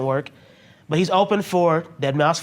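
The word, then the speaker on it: deadmau5: I know that too dead mouse 5 ladies and gentlemen I I pronounced it the way it's written and I but I know it's dead mouse dead mous five yeah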